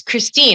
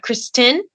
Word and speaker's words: Christine: And I'm like, and at the same time, I'm like, okay, say my name. And they're like, it's Christine. I'm like, right, not Kristen. Let's work with the INE sounds, guys.